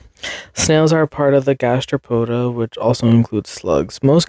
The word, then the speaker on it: gastropoda: I did I I did say it right gastropoda okay period look at me a large class